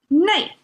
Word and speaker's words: 内: 内 is how it's pronounced.